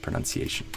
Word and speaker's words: pronunciation: So trying to get better my pronunciation and how I speak my pronunci pronounce versus pronounce pronounce so similar to country we want this un sound country pronuniation pronunciation my pronunciation and